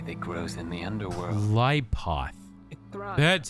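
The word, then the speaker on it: Qliphoth: Clypoth.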